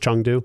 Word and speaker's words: Chengdu: But is it pronounced Chengdu? Chengdu, So I got to make sure I say that It's where right.